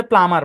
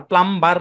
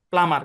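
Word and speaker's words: plumber: তবে এখানে দেখেন, এই শব্দটার উচ্চারণ হচ্ছে প্লামার, প্লাম্বার না, প্লামার।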